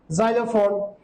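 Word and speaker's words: xylophone: ওয়ার্ডের প্রথমে যদি x বসে, সেই ক্ষেত্রে আমরা যা সাউন্ড উচ্চারণ করব বা বাংলায় বর্গীয় সাউন্ড উচ্চারণ করব, যেমন জাইলোফোন, জেরক্স, জিনন এটসেট্রা।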